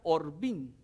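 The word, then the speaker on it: עורבים: traducciones del hebreos mire en hebreo la palabra cuervos se pronuncia orvin y la palabra árabe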